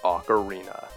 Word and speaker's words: ocarina: the first time on this channel it's the ocarina we're looking for the tree trunk with the